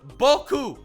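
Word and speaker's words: beaucoup: with eight letters pronounced Boku of course the p is silent because well consonant the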